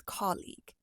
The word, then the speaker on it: colleague: for the longest time I've actually pronounced this word as k no it's colleague I only learned this because